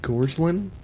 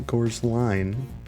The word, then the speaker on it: Gorslin: By the way, if you're curious, the last name is said like Gorslin, not Gorsline. I've just been told, you know, my whole life that's what it is, but everybody mispronounces it and says it's Gorsline, which in fairness, that is what it looks like.